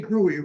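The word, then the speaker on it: Grewe: name is spelled g-r-e-w-e we say groovy rather than saying group wheeler 139 Cora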